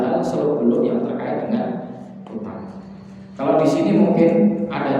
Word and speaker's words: Kuttab: Al-kutab bi dhammil kaf wa tasydid ta. Al-kutab dengan dhammah kaf dan tasydid ta. Kutab gitu ya. Bukan kata, bukan kutab, tapi kutab bacanya gitu. Maka pengejaan dengan bahasa Latinnya T-nya harus dua.